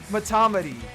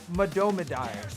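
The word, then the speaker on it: Mahtomedi: Matomedy. Matomedy. It's actually pronounced Madomidai.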